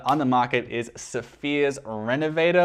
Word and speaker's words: Renovateur: The 3rd best leather conditioner on the market is Phears Renovator, or Renovateur, if I'm going to be pronouncing that technically correctly.